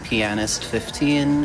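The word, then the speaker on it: Pianist15: Yeah, the person who was also on Hotfix with me was Pianist 15. It is pronounced, the A is overpronounced on purpose.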